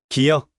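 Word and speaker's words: 기역: 고이야. 기억이라고 읽어. 기억.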